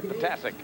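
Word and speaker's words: Ptasek: Talked to Patasic before the game, and I said, so how do you say it? He says, pronounce them all. And it's spelled P-T-A-S-E-K, Patasic.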